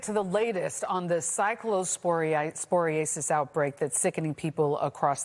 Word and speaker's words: cyclosporiasis: I always say it wrong. It's cyclosporiasis. I always mess it up. Cyclosporiasis. Right. It's a mouthful.